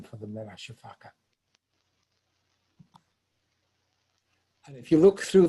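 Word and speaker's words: sifaka: The Madagascar people, or the Malagash, don't pronounce the last A. They call them shifaks and say that's the sound that they make when they jump through the trees.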